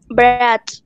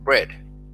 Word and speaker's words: bread: Bread. Bread. Bread. La A no se pronuncia. Bread.